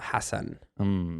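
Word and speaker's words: Hasan: He's like Hassan. And then she Hassan. was like Hassan Minaj. He's like, no, it's Hassan. Well, see, then Arabs want Hassan. So he's saying it wrong.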